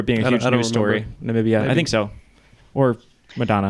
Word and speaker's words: Namibia: country that Donald Trump code nambia it's Namibia that's right that's right like